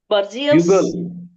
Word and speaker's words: bugle: Bugle. No. I'm talking about fourth word, ma'am. It is bugle. It is bugle. In Marathi, we call it beagle. In Marathi, we pronounce it as beagle.